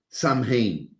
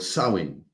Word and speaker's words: Samhain: Okay, so Halloween originates from the ancient Celtic festival of Samhain or Samhain. Okay, the correct pronunciation.